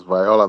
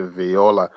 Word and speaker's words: Viola: It's Viola, pronounced as Viola that side, but it has to be Viola.